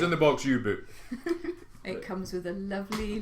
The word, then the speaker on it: U-Boot: It says U-Boot, but it's pronounced U-Boat.